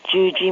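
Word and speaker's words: Yuyi: Hello, my name is Gigi. First name is spelled Y-U-Y-I.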